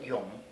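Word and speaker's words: 永: This character pronounced Yung means everlasting, means forever.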